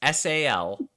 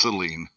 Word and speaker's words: Saline: But Chris, spell pronounce SALINE. SALINE. How do you pronounce it? SALINE. Saline, right? And Rob, how do you pronounce the town? It's Celine. Celine, like the moon. Okay. Or like Dion.